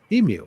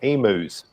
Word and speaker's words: emu: the words are pronounced there's a vowel a consonant a vowel the first first vowel says its name that's it emu matter